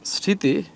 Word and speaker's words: স্মৃতি: এবার দেখি আমরা স্মৃতি। এই যে স্মৃতি এটা এটা স্মৃতি। বানানটা সরি বানানগুলা বলে টাইপিং মিস্টেক। আচ্ছা স্মৃতি এখানে আমরা দেখতে স্মৃতি রয়েছে। তার মানে এখানে মফলা উচ্চারণ হয় না। তার মানে মফলা কেন উচ্চারণ হয় না। কেন? শুরুতে আমরা আগেরটাই পড়েছিলাম। যদি শুরুতে মফলা থাকে তাহলে উচ্চারণ হবে না।